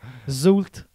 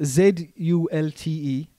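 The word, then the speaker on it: Zulte: is not how I would spell that, like, you know. Zult Waregem.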